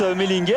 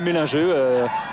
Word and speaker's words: Mellinger: Ici on prononce Mellinger, en fait c'est un Français, donc on peut l'appeler Mélingeux, on peut varier.